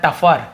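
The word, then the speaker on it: tougher: इसे भी ध्यान रखेंगे टगर वगर नहीं पढ़ना टफर टफ कठिन ठीक है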